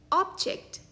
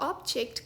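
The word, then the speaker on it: object: इसका एक उच्चारण है ऑब्जेक्ट, यानी कि कोई वस्तु। For example, she place the ancient ऑब्जेक्ट carefully on the shelf.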